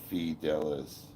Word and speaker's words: fidelis: Latin and pronunciation is semper fidelis.